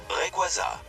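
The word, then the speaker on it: Rayquaza: Requaz Reaz. En vrai, c'est un mix entre rayon et quazar mais aussi une divinité steèche. Du coup, ça se prononce Requaza.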